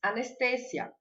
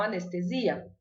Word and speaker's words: anestesia: Em espanhol a gente diz anestesia e não anestesia.